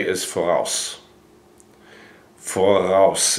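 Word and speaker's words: voraus: Forouse. It's spelled V O R A U S. Forouse. Forouse.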